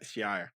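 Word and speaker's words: Shi'ar: Yeah, Shia.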